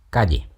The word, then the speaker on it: calle: In Rioplatense, the sound represented by LL is pronounced sh, rather than the typical y or dy pronunciations. frutilla, Calle.